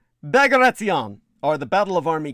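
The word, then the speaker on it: Bagration: pronounced diet rich well most people would look at that name and they would think it was pronounced bag ration as in a bag of rations don't ever pronounce it that way bagaration or the battle of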